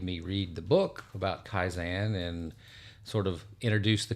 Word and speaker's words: Kaizen: I put a little Texas twang on it, the Kaizen. But the concept of Kaizen is something that I